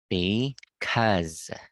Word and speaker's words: because: Lisa good job now one more thing listen pronounce the word because like this because okay instead of saying or instead of putting